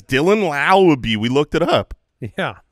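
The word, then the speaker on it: Laube: That's it's Dylan Lowby. We looked it up. Yeah, we did. Rhymes with wow.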